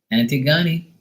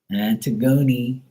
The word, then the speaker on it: Antigone: If you're saying it like that, like, you know, it's like ant, tig, go, ni.